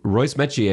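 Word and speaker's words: Royce Metchie: And I learned this from Mike Hogan in my conversation with him earlier, that Royce Metier is the correct pronunciation.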